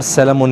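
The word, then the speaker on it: salmon: इसको यहां पर सैलामोन ही बोलते हैं। एल जो है यहां पर साइलेंट नहीं है।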